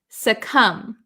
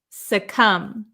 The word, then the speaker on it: succumb: succumb. Succumb. Succumb. The B is silent.